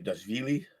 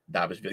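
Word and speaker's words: Dvalishvili: Dashvili. I always say his name wrong. Aspinall, Edwards, Volkanovski, Pantoja, Holloway, and O'Malley. Damn, O'Malley dropped to 13, huh? Will, it's Davishvili.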